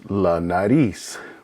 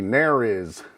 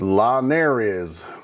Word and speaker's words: la nariz: the I in ski, the Z has an S sound, and again, the R has kind of a soft D sound.